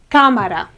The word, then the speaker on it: cámara: A chamber is cámara, okay? Cámara. Again, it's on the third one.